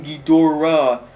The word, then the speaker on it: Ghidorah: it wrong is King Ghidorah I said King Ghidorah which is weird because in the American dub versions of some of the older movies it is King Ghidorah they say he's weird